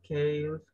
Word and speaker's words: chaos: Es chaos, ¿verdad? La CH se pronuncia como una K, ¿verdad? En este caso.